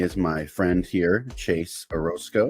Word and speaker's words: Orosco: my friend here Chase Orosco am I pronouncing your last name right yes sir right on so uh